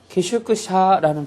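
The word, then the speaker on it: 宿舎: 이게 기숙사는 말로도 해서요 일본식으로 읽으면 슈샤는 표현을 씁니다 그래서 료나 슈샤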